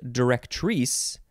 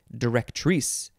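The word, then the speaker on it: directrice: cut cut directorus now this one though is pronounced directories because it is spelled d-i-r-e-c-t-r-i-c-e direct trees this is a much more fancy way to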